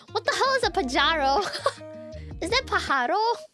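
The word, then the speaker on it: pájaro: Pajaro? Wait, let me how to pronounce pajaro?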